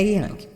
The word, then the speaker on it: Jung: que você tá pensando o não é Jung mas escreve Jung tá escreve Jung mas gente a pronúncia é yang é a vida né